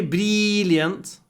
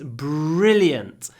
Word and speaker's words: brilliant: and um brilliant and don't say brilant it's brilliant between the r and the L is just a little brilliant brilliant but all the stress is on the brilliant and then we just